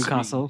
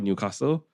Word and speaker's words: Newcastle: So the locals, the jais will call it Newcastle and then someone who was from out of town will call it Newcastle.